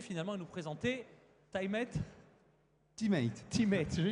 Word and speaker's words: Tymate: Une première interview à l'antenne, donc Marc-Antoine Navrez, le CEO de TimeMate. Je l'ai bien prononcé ? Teammate, voilà.